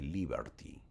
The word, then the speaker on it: Liberty: En la cárcel de Liberty. Así se pronuncia, o la cárcel de Libertad.